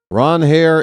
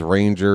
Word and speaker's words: Suarez: Ron Hair is the traditional pronunciation for Mr. Suarez, but he says Ranger is fine.